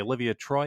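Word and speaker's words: Olivia Troye: anonymous staffers like miles taylor and now yesterday olivia troy is that how we say her name um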